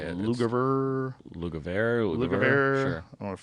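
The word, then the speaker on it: Lugavere: Lugaver.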